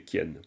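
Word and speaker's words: རྐྱེན: Et gien, ben, c'est pas kien. Kien, ici, kien, c'est les circonstances. Il faut vraiment prononcer kien.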